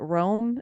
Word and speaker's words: Rome: Williams and is it Rome?